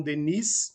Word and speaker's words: Denis: do YouTube do Educandário Leon Denis, né, com esse S no final que não é pronunciado, mas todos estão lá, assim como uma série de outros materiais.